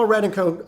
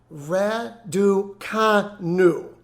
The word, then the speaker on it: Raducanu: unusual suspects how exactly do you explain emma radenko excuse me um etta someone's gonna have to